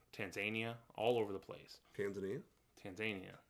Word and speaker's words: Tanzania: Tanzania, so they say. That's how they say it. The Tanzanians do.